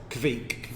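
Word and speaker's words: kveik: Andrew, you can pronounce this better. Well, I'm going to say it's Kvik.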